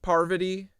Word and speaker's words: Parvati: Parvati.